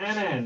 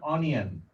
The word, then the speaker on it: anion: says this is the anion right that it came in as f minus okay that's the anion not onion i i hope my